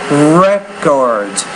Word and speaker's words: records: how you're using it you're using it here as a noun so it dist stresses on the first syllable by people with criminal records you said more records so put stress on that first syllable not the second but overall I think